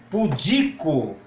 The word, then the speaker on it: pudico: proparoxítona látex essa não essa já tem uma seta indicando o que é paroxítona pudico pudico agora vamos ver